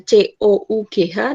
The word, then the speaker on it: cough: Kemudian next enough, nah jangan lupa itu enough, dah dibaca akhirannya GH dibaca F. Seperti batuk juga nanti tulisannya COUGH dibacanya cough.